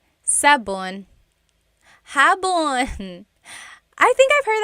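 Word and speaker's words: sabon: Soap in Tagalog is sabun. Sabun.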